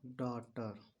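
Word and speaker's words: daughter: यहां पर जी H silent है।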